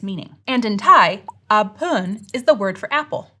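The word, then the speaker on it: แอปเปิล: But to pronounce it correctly, we'd have to note that the first syllable should be pronounced in a high tone and the second syllable in a falling tone.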